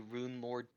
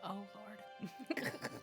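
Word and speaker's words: Runelord: into one of the Rune Lord dungeons. Oh, Lord. And there does happen to be a It's actually pair- pronounced Rune Lord, not Oh Lord.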